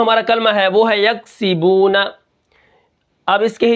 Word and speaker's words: یکسبون: زبرنا، یکسبون، وقفاً یکسبون۔ کاف کو ہم قلقلہ نہیں کریں گے کیونکہ یہ کاف باریک ہے۔ یکسی، سین کے نیچے کیا ہے؟